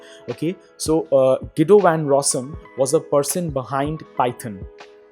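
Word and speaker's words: Guido van Rossum: the year 1991 by gido van rossom it's pronounced as gido van rossom not Guido van rossom okay so uh gido van rossom was a person behind python he actually invented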